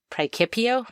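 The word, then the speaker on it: praecipio: The preipio preipio with a hard C.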